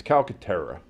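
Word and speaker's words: Calcaterra: his name I'm not going to Cal it's calcatera okay Cala heyab go he's not Tommy deito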